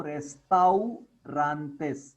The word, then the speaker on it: restaurantes: Just like autobus, you have autobus. Just like that, a plus u comes. You say autobus. Here also after rest it comes au, so restaurantes. This is how we pronounce.